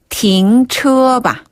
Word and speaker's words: 停: 띵 아니고 停.